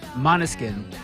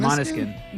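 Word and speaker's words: Måneskin: Monoskin. Even though it's spelled Not man. Monoskin. Because they're from another country.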